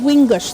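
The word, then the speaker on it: wiingashk: So this is wingush. That's how you say it in our language.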